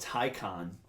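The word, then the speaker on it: Taycan: is coming out or I actually think it's called Tyco on is how Porsche wants you to pronounce it really though yes so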